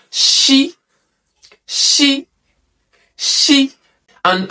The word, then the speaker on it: Ṣ: So in Yorùbá alphabet, when you see letter S with dots underneath, it is pronounced She.